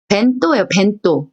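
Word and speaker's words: 弁当: 이거 어떻게 발음할까요? 해에다가 탁은 붙었으니까 배고요. 토우죠. 뱀또 올까요? 벤또 올까요? 뱅또 올까요? 벤또예요.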